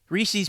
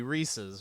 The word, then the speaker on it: Reese's: apostrophe s would be Reese's right Reese's which rhymes with pieces as it's spelled the